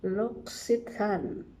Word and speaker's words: L'Occitane: How to pronounce it? Lox-ee-tahn.